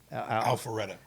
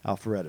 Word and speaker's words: Alpharetta: Alpharetta. Alpharetta, man.